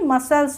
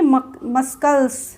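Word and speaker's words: muscles: होगा साइंस होता है मसल्स इसको क्या बोलते मसल्स ना कि मस्कल अगर आपको रूल नहीं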